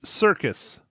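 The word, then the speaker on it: Serkis: man no you're right it's circus that's how you pronounce it all right all right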